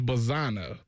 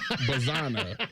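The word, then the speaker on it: Bazzana: And oh, and by the way it's Travis Bazana. Okay. Bazanna. Did I say it right twice and wrong? Bazanna. I think you said B A Z A N A. I spelled it out phonetically knowing that I was going to say Bazana at one point.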